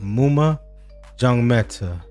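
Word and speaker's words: Maema Njongmeta: Uh, but when I looked it up, it's pronounced Muma Jong Meta, and Jackson Kwatch.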